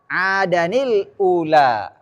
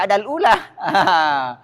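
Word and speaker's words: عَادًا الْأُولَى: Di sini berarti bacanya adanil ula. Langsung bacanya adanil ula. Di sini adanil ula. Begitu. Tanwin bertemu hamzah. Yang suka baca cetakan Mekah, cetakan yang Quran kalau balik haji itu biasanya kasih gratis tuh. Ini tandanya. Jadi jangan dibaca adal ula.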